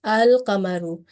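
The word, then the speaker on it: القمر: Okay, that's why we do pronounce lam. That's why it is al-qamaru, qamari letter or sun letters.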